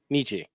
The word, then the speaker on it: Nietzsche: Nietzsche.